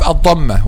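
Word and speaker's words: الضمة: So we have al-Dhamm, okay, which is D-A-M, and we have al-Dhammah with adding M and A at the end. Al-Dhammah. Okay, and the accurate pronunciation is adding H at the end.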